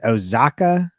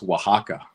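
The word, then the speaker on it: Oaxaca: how it's spelled so it's more of a w so it's waka waka okay okay I like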